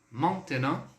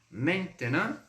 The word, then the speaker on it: maintenant: Para a palavra agora, pessoal, nós temos 3 pronúncias, tá? Então, há 3 formas aí de falarmos, de pronunciarmos essa palavra agora. Maintenant, maintenant e maintenant.